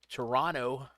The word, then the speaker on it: Toronto: The Marlins of Miami going into Toronto. Guys, ever want to make Raj mad? word on the street is if you emphatically pronounce the T in Toronto. They don't like that.